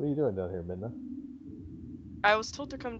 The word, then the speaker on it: Midna: Midna.